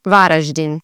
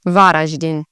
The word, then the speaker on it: Varaždin: And you'd really say this in Croatian, Varaždin. You've got the R, then the Ž, so Varaždin. And as it typically follows, the emphasis would be on the first part of the word, so Varaždin.